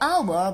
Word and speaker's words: hour: two it takes an hour by train but two hours by bus so hour can you see that this sounded like a vowel cell so our and